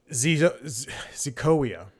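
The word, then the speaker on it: Xicoia: I mean, not great, but she's the first creation to emerge from recently launched AI talent studio Zicoia, spelled with an X, a spinoff from van der Velden's AI production studio Particle 6.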